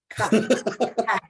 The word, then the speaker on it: Koch: Is it Koch? No. How should I pronounce it? Say the word truck. Okay, got it. Koch.